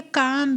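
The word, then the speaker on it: calm: उसी तरह से जैसे क्लाम बेल लिखा हुआ ना, इसको बोलेंगे काम बेल, क्या बोलेंगे, काम बेल, एल साइलेंट में रहता है, इसलिए इसको बोलेंगे क्या, काम बेल, ठीक है।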